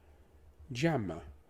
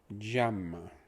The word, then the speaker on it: llama: The double L is a ja. If you're, it's a j. The A is an a. The M is m. And the A again is a. So we have j, a, m, a.